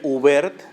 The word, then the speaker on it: Hubert: Se escribe Hubert con H, Hubert, Robert, como Roberto, pero sin la última O.